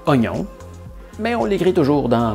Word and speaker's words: oignon: On a enlevé le I muet à oignon, mais on l'écrit toujours dans mognon.